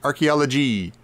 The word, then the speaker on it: archaeology: The way he pronounces archaeology, he does it a very French way. He sort of emphasizes the last syllable. He's like, archaeology.